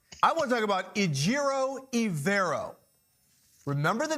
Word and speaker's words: Ejiro Evero: But I want to talk about Ejiro Evero. Remember the name, remember the pronunciation.